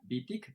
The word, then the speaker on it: Wittig: Tenemos primero las damas, a Wittig, que espero estar pronunciando bien su apellido, si no, ella ya me corregirá. Vitti, que es profesora de la Escuela de Humanidades